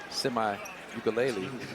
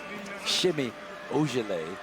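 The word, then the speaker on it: Semi Ojeleye: I used to call him Semi-Ukulele. I realized Shimmy Ojale.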